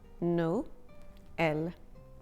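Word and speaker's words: Noël: two vowels for instance noel Christmas is pronounced no l instead of no uh is also sometimes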